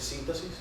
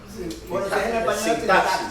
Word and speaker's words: sintaxis: Esto no se dice síntasis. Sintaxis.